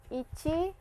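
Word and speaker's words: いち: So ichi knee and sun please I'll draw it once again for you.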